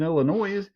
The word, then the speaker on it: Illinois: What's Illinois? But what? Yeah. The S is silent, just like all those other silent S's. Yeah. Like Canna. No, that's Kansas, sir. Oh, but the S is silent in Illinois.